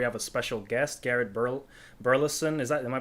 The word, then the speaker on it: Birleson: Today we have a special guest, Garrett Burleson. Am I pronouncing that correctly? Birleson, yes.